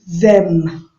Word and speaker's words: them: Like you're pronouncing d, but it's not really d. You just take your tongue upper a little bit. You see them.